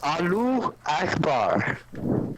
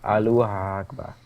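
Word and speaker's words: الله أكبر: It's Alu Akbar. No, it's Allahu Akbar. Allahu Akbar. Allahu Akbar. There we go. That's how you say it.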